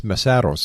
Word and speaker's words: Mesaros: Now, I think I pronounced your family name wrong. It's Mesaros, am I right? You're right.